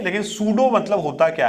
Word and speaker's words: pseudo: तो यह बात समझिए इस सूबे में पिन जो है साइलेंट होता है मतलब अगर हम स्पेयरिंग की बात करें इस पीलिंग स्पीड स्टार्ट होती है लेकिन हम बोलते हैं सूडो एपीएसयू डीओसी मोड की